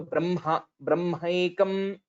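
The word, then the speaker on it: ब्रह्मैक्यम्: So whenever we say Hakara, it usually comes from the Uras basically. So Brahmaikam. So we'll have to give that energy while pronouncing the word Hakara.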